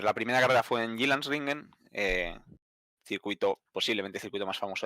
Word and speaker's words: Jyllandsringen: A ver, la primera carrera fue en Jyllandsringen, posiblemente el circuito más famoso de Dinamarca. Sí, Se te acaban de corrieron. preguntar en el chat Sí. que pronuncies ese nombre. Lo has hecho muy bien. Jyllandsringen.